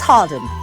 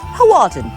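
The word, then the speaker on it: Hawarden: incarceration at Flint jail so that's Harden not haarden always go with the rude version moving on next it's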